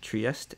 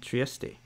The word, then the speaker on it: Trieste: Fun fact, that town can be pronounced both Trieste and Trieste, depending on whether you are pronouncing it in German or Italian.